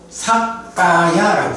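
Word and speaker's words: sakkāya: 요거를 이제 원어에서는 뭐라고 하냐 하면 사까야라고 써요. 까야가 몸이고, 요거는 원래는 이제 사뜨라는 말인데, 사뜨라는 것이 이제 있음에서 유라는 말이야. 근데 사뜨 까야가 연결되니까 발음이 사까야 이렇게 되거든요.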